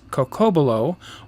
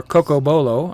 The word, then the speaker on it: cocobolo: favorite wood which is cocobolo or cocobolo I think it depends on where you come from as to how you pronounce it and so I've